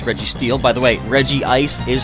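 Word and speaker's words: Regice: Regirock Reggie is Reggie Steele by the way Reggie Ice is how it's pronounced and a lot of people call it reg ice but why is it not called reg rock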